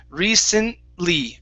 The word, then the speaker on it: recently: pronouncing the ntl okay in this word recently the t is not going to be pronounced okay so don't worry about it so it's recently recently recently good one